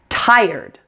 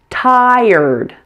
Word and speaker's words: tired: include in that syllable pronounce this word like this tired tired there's that air again and it's followed immediately by a D make sure you don't forget to pronounce both sounds in the ending blend them together smoothly